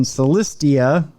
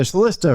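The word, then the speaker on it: Celista: someone at a home in Celestia or Celesta rather not I'm giving it too many syllables uh upon arrival they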